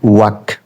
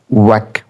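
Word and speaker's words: walk: এটা ওয়াক, এটা British American একরকমেরই উচ্চারণ হবে, এটা এলটা সাইলেন্ট হবে। ওয়াক ওয়াক ওয়াক ওয়াক, ওয়াক মানে হাঁটা।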